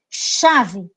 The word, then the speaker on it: chave: Chave, né? Chave, CH, mas eu pronuncio como se fosse um X.